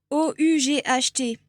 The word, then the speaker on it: ought: O-U-G-H-T, qui est très compliqué et qui en fait se prononce juste comme O-T. Donc, ought.